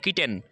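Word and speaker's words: kitten: কিটেন, কিটেনের ক্ষেত্রে double T আছে, তারপরে বাটারের ক্ষেত্রে ডাবল টি আছে কিন্তু সিঙ্গেল উচ্চারণ।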